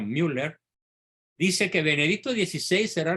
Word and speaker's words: Müller: alemán cardenal Gerard Müller se escribe mwl e r con diéresis en la u por eso se pronuncia Müller dice que Benedicto 16